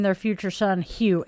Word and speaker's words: Hugh: name their future son Hugh. H U G H. He's like, "Mom, she would kill me." Because Hu Gh, those are all silent letters in French.